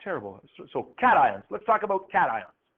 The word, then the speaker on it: cation: to the cathode and so he called them cat ions so they have nothing to do with cats sometimes students will call that cashion because Tio n looks like shun but we